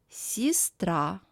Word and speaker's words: сестра: The vowel Е is pronounced as И. Сестра, ребенок, тетрадь.